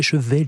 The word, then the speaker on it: Chevaillier: sa vie à dire c'est pas chevalier c'est cheveller oui vous avez bien